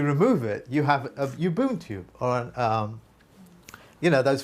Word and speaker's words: Ubuntu: i can't pronounce it probably you be uh pronounce it for me please ubuntu that's it your boon tube ubu just look